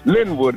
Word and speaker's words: Lynwood: Born and raised in Lynwood Park. L Y N W O D. That's the way you spell it. This is the way you yell it. Lynwood.